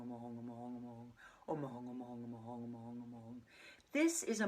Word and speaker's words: Hum: Now some people pronounce that home. I've been taught you actually pronounce it H-U-N-G, Hoong.